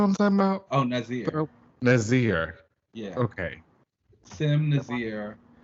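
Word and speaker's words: N'astirh: We get Madelyne and I can never pronounce the demon's name. Nasir? Do you know what I'm talking about? Oh, Nazir.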